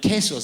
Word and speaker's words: queso: What's Spanish for cheese? Queso or queso. No, quesos, that's the right way to say it. I started off by saying queso because that's how it's spelt, right, when I was teaching myself Spanish.